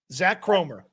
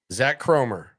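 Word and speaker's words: Zak Kromer: Zach Cromer. Zach Cromer.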